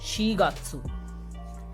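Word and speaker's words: 四月: This would be pronounced as shigatsu.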